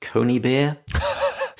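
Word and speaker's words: Conybeare: he wrote to Dorothea I think it's pronounced Coney beer Co n YB e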